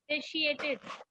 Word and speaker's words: satiated: Satiated. Satiated. सा नहीं, से बिकॉज SAY है यहाँ पे, Say. SAY है. प्रोनाउंसिएशन की में SAY होना चाहिए.